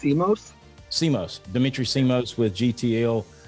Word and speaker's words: Simos: how do you say your last name it's CMOS CMOS Dimitri CMOS with GTL guaranteed trust life